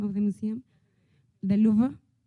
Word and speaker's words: Louvre: The Louvre? Louvre, okay.